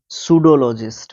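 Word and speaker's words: pseudologist: पी के बाद जब हम एस लिख रहे हैं तो लगभग पी को हम क्या कह रहे हैं, साइलेंट, साइलेंट ओके। उसके बाद देखो, सूडोलॉजिस्ट बोलते हैं इसको, सबसे पहली बात तो ये है।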